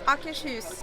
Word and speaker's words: Akershus: How do you pronounce the name of this restaurant, please? Akershus.